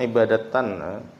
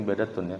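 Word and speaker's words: عبادةٌ: Karena dia ini kayaknya nyaman dibacanya ibadatan ya tapi ibadatun ya.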